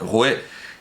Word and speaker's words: roi: Ya recordábamos la pronunciación republicana, popular, que perseguía a quienes decían, en lugar de roi, como se dice ahora, rue, que era la pronunciación antigua, y guillotinaban a gente por pronunciar rue en lugar de roi.